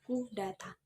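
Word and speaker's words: coup d'état: Pengucapannya adalah coup d'etat atau disingkat dengan coup, yang berarti merobohkan legitimasi atau pukulan terhadap negara.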